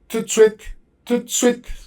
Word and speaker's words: tout de suite: But in reality, in French, you pronounce it tout de suite, right away.